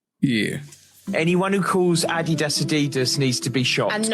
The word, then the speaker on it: Adidas: Anyone who calls Adidas Adidas needs to be shot. And Nike Nike. It's Adidas.